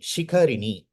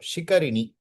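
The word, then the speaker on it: शिखरिणी: Shikarini in Sanskritam. Shikarini. Correct, Vishwanath pronunciation.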